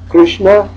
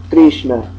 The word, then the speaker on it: Krishna: It's either or ri. Ri. So we either have Krishna or Krishna.